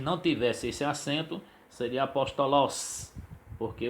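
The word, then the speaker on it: ἀπόστολος: Observe, nós temos a palavra apóstolos. Apóstolos. Então observe que o pós está acentuado, ele é pronunciado mais forte. Se não tivesse esse acento, seria apóstolos, porque o sigma final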